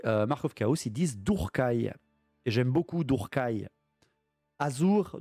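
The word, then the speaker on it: Druchii: On dit Durkai, c'est la prononciation correcte de Drushi.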